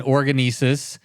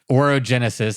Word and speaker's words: Orogenesis: Um you're out on organis. Did I say it right? Oroenesis. Oroenesis.